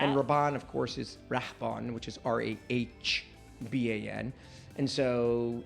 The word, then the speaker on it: Rahban: So nobody was going to spell it R-A-D-Y. That's Rady. Yeah. And Rahban, of course, is Rahban, which is R-A-H-B-A-N.